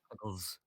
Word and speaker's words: Picklezz: I think you're pronouncing it wrong. It's supposed to be pickles. So we it's just- pronounced pickles.